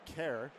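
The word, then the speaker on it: Kehrer: you this uh Anthony care it's pronounced care as in like k 11 I guess but it's spelled k e h r e r the last R silent that that's hockey names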